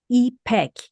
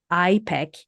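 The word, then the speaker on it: İpek: Silk in Turkish and it's pronounced as epek similar to the i in the word Inc epek uh though I must admit I've been called everything from iek with the i as in the idol to well let's just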